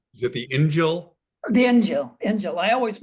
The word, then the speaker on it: Injil: Injil? What? Is it the Injil? The Injil. I always mispronounce it.